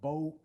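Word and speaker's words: Beaufort: Customs house at bord pronounced bord in North Carolina not to be confused with Buford in South Carolina spell the same way um so what you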